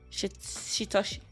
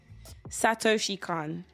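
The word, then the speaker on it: Satoshi Kon: it's perfect Blue from shitoshi Satoshi Khan yes that's how she can't okay my bad Satoshi Khan sorry I'm I told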